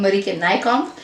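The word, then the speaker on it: Marieke Nijkamp: is unbroken edited by buddy can I come at least that's how you say her name in Dutch she's got a Dutch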